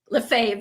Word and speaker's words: Lefebvre: Lefebvre, sorry. French way. French versus Canadian. Lefebvre. He says Lefebvre, so I say Lefebvre.